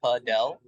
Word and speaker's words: Padel: I mean, the phonetics behind it, I don't know the right word, but P-U-H-D-E-L, Padel.